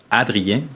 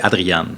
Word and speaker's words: Adriane: Puis en passant, pour toutes les personnes qui m'appellent Adrien, mon nom c'est Adriane.